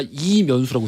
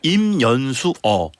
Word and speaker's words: 임연수어: 근데 정확한 명칭은 임연수어가 되겠습니다. 임연수 어까지 붙여야 돼. 어까지.